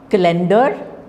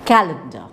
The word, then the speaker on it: calendar: appetite Bachelor botony and it is not cender when you say calendar you are again stressing the wrong syllables so it is calendar chemistry Cinema okay so